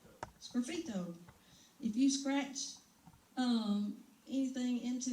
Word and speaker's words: sgraffito: It's called Sgraffiti. Is that how you pronounce that, Joe? Sgraffito.